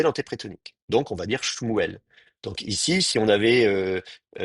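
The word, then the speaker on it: שמואל: On ne dit pas Shemiel, on dit Shmuel.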